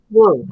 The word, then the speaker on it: WE: How do you pronounce the acronym? Woo.